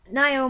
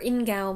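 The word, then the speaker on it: Ngaio: Nio Marsh or Ingal Marsh? I was told that you could say either.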